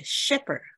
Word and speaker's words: shepherd: 所以从大门进去是 shepherd。